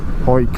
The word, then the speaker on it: Hawick: time i want to head up to uh oik that's haywick but it's pronounced hike so we'll be in scotland shortly